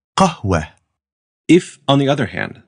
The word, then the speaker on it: qahwa: Whenever that happens, you'll pronounce it as a light H sound at the end of a word. So here's tufaha and here's qahwa.